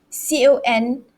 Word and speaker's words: conduct: back to word stress in a noun like this the stress falls on the first syllable all right so you